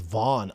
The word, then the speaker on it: Van: Gamma girl, did you see the Megan Olivia interview with Joshua Van? The real way to say his name is Vaughn. I know. Like Theo Von had no idea Theo Vaughn has a brother and it is Joshua Vaughn.